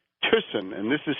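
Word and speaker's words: Thyssen: of the American interests of a guy called tisson and this is spelled t h y ssen tsen but tson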